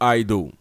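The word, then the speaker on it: eido: Le mot est traduit par oida ou aido. Voyez comment je l'ai prononcé? Ben, les deux marchent.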